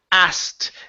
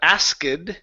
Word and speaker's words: asked: 1900s okay good and our last one here is asked instead of ased okay uh it is asked asked okay so there there is there isn't a need to pronounce the k okay so the K doesn't need to be pronounced so it's asked asked